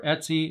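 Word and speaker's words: etc: then the file name slash et Cie or Etsy as we like to pronounce it SSH SSH D underscore config which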